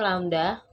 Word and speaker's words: lambda: Ini dibacanya lambda.